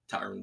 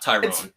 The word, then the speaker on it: Tyron: so good tyrone woodley tyron woodley and you got woodley wrong it's tyron for whatever reason he goes by tyron it's not tyrone it's spelled tyrone it